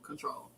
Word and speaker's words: CTRL: But it's not spelled like that. It's CTRL Control.